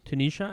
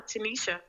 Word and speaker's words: Tenesha: we're back with um tunisha am I pronouncing your name right you are yes you are Tenisha okay cool Tenisha yes